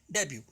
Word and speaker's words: debut: इसकी स्पेलिंग देख लीजिएगा, DBUT, डेब्यू. इसमें टी साइलेंट है, उसी तरह से जिस तरह से डिपो का टी साइलेंट होता है.